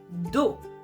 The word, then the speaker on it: dos: Here, the O is closed. Dos. Okay, the last sound of that syllable is O, so we're going to close it, almost like you close the door, because the syllable is over.